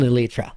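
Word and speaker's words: Elytra: we have to find an elyra that's how you pronounce it I didn't know either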